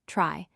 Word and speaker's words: trie: A trie, short for retrieval and pronounced trie, is a tree-shaped data structure built specifically for storing and searching strings.